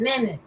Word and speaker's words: manage: me tell you that the correct answer is that manage is Like Dancing Yeah because you don't it has just two syllables is a that is men man so the first one is the one that goes with this is the main syllable is the first one men so has